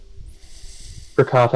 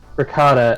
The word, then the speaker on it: ricotta: I'm I'm like seriously I've always pronounced it Ricotta and I think that's wrong richelata interesting the American the American pronunciation is ricotta all right so we